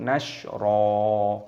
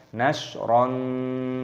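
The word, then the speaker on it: نشرا: Cara membacanya yaitu nashra, bukan nashron.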